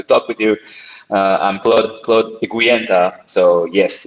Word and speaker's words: Eguienta: anything like mine, it's one that nobody can pronounce correctly. So thanks for joining us Yeah, today, Claude. Claude Eguienta.